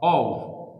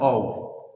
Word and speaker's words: of: तो ये ऑफ नहीं होता, इसका उच्चारण गलत होता है. और 95%, 98% लोग इसको गलत बोलते ऑफ. इसका सही उच्चारण जानना है तो आप ऑक्सफोर्ड की डिक्शनरी में जाइए. Advance learner, Oxford advance learner dictionary खोलिए और वहां पे आपको इसका सही उच्चारण लिखा मिलेगा. व, ओव. इसका सही उच्चारण होता है ओव.